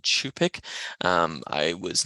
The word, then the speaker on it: Cup'ik: 2020 that I have I incorrectly use the pronunciation cubic rather than chupic um I was not